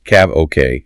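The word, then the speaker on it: CAVOK: KVU, pronounced CAV OK, it means ceiling, and visibility OK.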